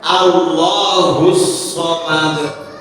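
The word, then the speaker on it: الله الصمد: Huruf shad itu tidak ditasdidkan padahal harusnya Allahus somad husad.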